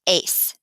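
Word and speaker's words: éis: e essential is and that is pronounced ace and then for ir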